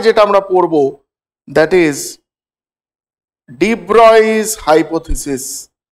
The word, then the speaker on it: de Broglie: ডি ব্রয়স hypothesis, এটাকে অনেকে ডিপ ব্রগলি বলে, ব্রকলি টাইপের শুনতে, কিন্তু ডিপ ব্রগলি উচ্চারণ নয়, এর প্রোনাউন্সিয়েশনটা হচ্ছে হি ওয়াজ আ ফ্রেঞ্চ সায়েন্টিস্ট এবং প্রোনাউন্সিয়েশনটা হচ্ছে ডি ব্রয়।